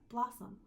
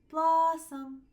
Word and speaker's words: blossom: Then you have blossom. Blossom. Blossom. Calling your dog in for dinner. So your uh occurs right here on the second syllable.